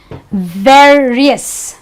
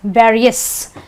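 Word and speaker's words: various: So you say fame-iss, Fame-iss, ver-iss, ver-iss, Cee-r-iss, okay, iss, and you say Ner-v-iss, Ner-v-iss.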